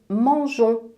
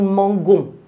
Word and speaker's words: mangeons: Mais nous mangeons avec g e O n s. Le E est nécessaire sinon ça devient nous mangons.